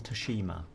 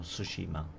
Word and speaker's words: Tsushima: handed to him couldn't win Toshima more Tsushima I should say that's how it's pronounced yeah you move off